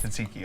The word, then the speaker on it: tzatziki: Am I saying that right? Tzatziki. Tzatziki. Yes. Tzatziki.